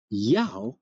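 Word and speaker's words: Ιαω: but the Greek or in Greek Yao contains two syllables and is pronounced Yao Yao Yao which would correspond to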